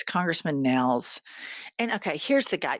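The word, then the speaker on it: Nehls: He'd have been the 13th I mispronounced his disciple. name. It's Congressman Nels.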